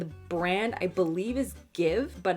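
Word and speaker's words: GXVE: brand i believe is give but it's g x v e i think i think that's how you pronounce it though let's check okay i checked it is pronounced give and it's apparently inspired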